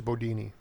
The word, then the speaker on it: Bundini: Who was Bodini? Uh, he was, his name was spelled like Bundini, but up there it pronounced it Bodini.